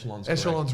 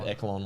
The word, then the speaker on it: echelon: no you're all right echelons were correct but i say you said eklon once lived echelon is correct i said it right